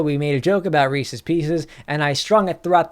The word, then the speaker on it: Reese's Pieces: 4, and of course, Reese's Pieces, which are actually pronounced Reese's Pieces because the person's name is Reese and they are Reese's.